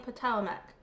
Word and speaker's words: Potawatomi: Brittany Jones says she's of Potawatomi descent, a veteran. It's Potomac. You pronounce the tribe's name Potomac.